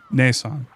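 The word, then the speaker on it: ねえさん: But it's pronounced Ne. Ne. Neesan. Niisan. Neesan.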